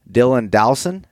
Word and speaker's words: Dylan Dowson: podcast and on the line now I have Dylan Dowson did I pronounce that correctly yep yep you got it